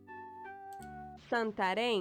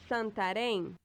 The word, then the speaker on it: Santarém: Santarém. Santarém. I guess the thing over the E makes it.